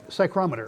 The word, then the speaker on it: psychrometer: psych psychometrist how do you say it again psychrometer psychrometer thank you i couldn't uh tongue tied